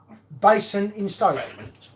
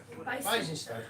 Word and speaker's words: Basingstoke: and Basin in Stoke. Basingstoke.